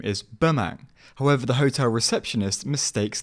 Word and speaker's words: Bemang: Sure, it's Bemang. Pemang? Bemang. P-E... No, B-E-M-A-N-G.